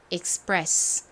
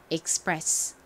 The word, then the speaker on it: express: 쓰였습니다에 끝에는 한 번호나 두 번호나 소리가 나죠 발음 해보면 express 됩니다 express express 앞에서도 말씀드렸듯이 여러 가지 의미를 가진 단어인데 저희가